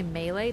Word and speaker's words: melee: Technically is melee, but like who I what do I care? Well, technically it's like probably like more French because it's French.